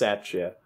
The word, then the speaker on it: Satya: be 25 i can't tell mayor madison wisconsin satya rhodes conway since 2019 this is a wig that's her name yeah that's named jake who's got a mayor named jake jake sacha okay apparently it's pronounced satchet you gotta figure this out you live there